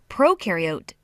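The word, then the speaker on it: prokaryote: Proariote the pro rhymes with no and they have no nucleus which holds the genetic material and controls a cell's activities.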